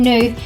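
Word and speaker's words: gnu: wildebeest is sometimes caught and new that is spelt G and you it has a large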